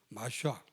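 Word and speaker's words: מָשִׁיחַ: 이제 히브리 언어 그대로 하면은 마샤 이렇게 히브리 단어를 보니까 마샤 이렇게 이제 그 발음이 되더라고요. 근데 이게 이제 헬라 말로 옮겨지면서 메시아 이렇게 옮겨졌고요.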